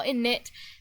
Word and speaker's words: init: so s sad I I kind of just want to call inish almost to annoy you but I won't okay I'll call init just for you but we know it stands for initialize so it's like helpful